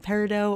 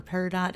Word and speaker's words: Peridot: So we have this shade Peridot or Peridot, however you want to pronounce it.